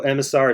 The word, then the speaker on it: EMASAR: So, EMASAR is pronounced EMASAR, like instead of EMA or something, EMASAR.